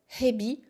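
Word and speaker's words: へび: Hebi, un serpent. À ne pas confondre avec ebi, les crevettes. Hein. Faites bien attention, il y a un H, donc il faut le prononcer.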